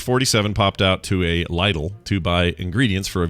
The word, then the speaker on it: Lidl: have a lizard oh bobby frank says it's pronounced lytle lytle well it looks like flicker or some bullcrap